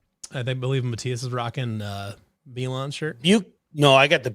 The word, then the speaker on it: Milan: this on, I'm like, I'm not putting the Milan one on, or Milan. No, it's Milan. You said it right the first time.